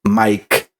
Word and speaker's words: Maic: My name sounds Mike. Just a regular Mike that you will, you know, type as M I K E. Mine is spells very different. It's because I'm originally from Costa Rica. My name is spelled M A I C, but it sounds exactly like Mike.